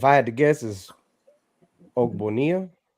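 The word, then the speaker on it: Ogbonnia: Um is that how you pronounce his last name? I if I had to guess is Bonia. Oonia.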